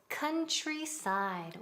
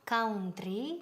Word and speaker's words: countryside: Después, countryside. La pronunciación aquí es muy así. Hay que repetir la palabra countryside. Bien, again. Countryside, country, nunca country, no, muy mal, countryside.